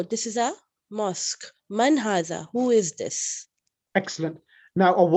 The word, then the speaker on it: هذا: Haza is pronounced as haza. Haza, okay. Yep. Haza is pronounced haza, but it is written without the first alif.